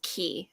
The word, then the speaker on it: Qui: be back oh and Lucia said it's pronounced key okay I thought it was Qui I thought it was